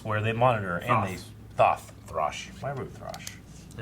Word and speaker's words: Thoth: Maybe Throsh is the place where they monitor and they Thoth. Throsh. Why wrote Throsh? I don't know. I told you how to spell it. It's like You did. Hoth, but with a T.